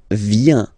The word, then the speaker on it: viens: So the first form is je viens, je viens, okay? Remember this I, viens, viens, and then this nasal, final S not pronounced, je viens, Tu viens.